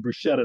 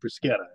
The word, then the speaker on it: bruschetta: usually takes charge right I would bet that bruschetta is gonna become bruschetta not brusketta all right how about